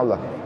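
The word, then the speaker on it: الله: Itu ada tulisan alif lam lam ha. Allah tulisannya. Allah. Itu alif lam lam ha. Bacanya Allah.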